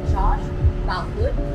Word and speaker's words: Josh Boutwood: So, we just finished our late lunch here at Ember by Josh Boutwood.